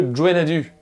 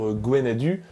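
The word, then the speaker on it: Gwenn-ha-du: Ah, le Gwenadu. Oui, je prononce comme ça. On peut dire Gwenadu, mais ça n'est pas mon accent.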